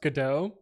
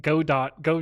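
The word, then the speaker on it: Godot: I'm I'm glad that I know that it's pronounced gdau uh my company recently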